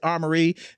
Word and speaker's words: Armourie: Um, and I just went with armory, you know, I just wanted to combine my first initial and my middle name and it pronounced the word armory like your shield and things of that nature.